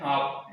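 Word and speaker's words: half: हम जैसे कि हाफ, जैसे क्या कहते हैं हाफ, एल नहीं आता इसमें, हाफ ऐसे बोलते हैं।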